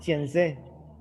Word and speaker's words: fiancé: Oh, yes, just put a stress in the E. Fiancé.